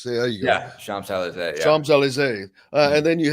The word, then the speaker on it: Champs-Élysées: Champs-Élysées. There you go. Yeah, Champs-Élysées.